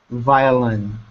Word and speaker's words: violin: okay okay right here the word is pronounced violin violin okay with the stress at the end violin violin okay good